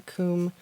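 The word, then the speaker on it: Kum: that video about the comb sharpener. So comb is spelled K-U-M.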